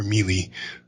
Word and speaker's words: Millie: Is it Miley or Mealy? Or Millie Brown, the girl who plays 11 in Stranger Things. Millie Brown, I think. Millie, it's Millie.